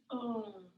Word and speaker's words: Om: Sometimes you'll hear folks pronounce it as Aum, or just Om.